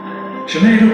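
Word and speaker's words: Sinéad: Sinead O'Connor, not Sinai McDonald's. Katrina Balfe, not Cat Rhino Barf.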